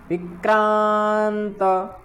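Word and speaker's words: विक्रान्त: युधामन्युश्च विक्रांत, विक्रांत ता का पूर्ण उच्चारण करना है।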